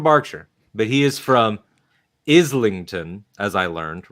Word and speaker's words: Islington: but he is from Islington, as I learned, right? Oh, that's right. Islington. And one time, I referred to it as Islington because that's how it reads, because that's how Isle is spelled.